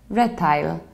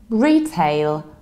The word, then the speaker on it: retail: heard some Polish people who say red tile that I linked and its retail retail pay like like a tail retail in the American axe and